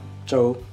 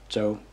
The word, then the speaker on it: Zhou: My last name is pronounced as Zhou. I think it depends on the province where you are actually in China. There's probably different pronunciations for it, but that's how I pronounce it.